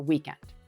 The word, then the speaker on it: weekend: But I teach the American accent, so we're going to I will be using the first syllable as the strong one, the weekend.